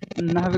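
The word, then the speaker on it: نحو: Hello, सही उच्चारण जो है नहव होगा, नहव नून पे जब नून पे जबर और हा और वो दोनों साकिन है, ठीक है। दूसरा साकिन, तीसरा माकूफ, नहव नहव नहीं नहव। अच्छा, और इसका माना क्या?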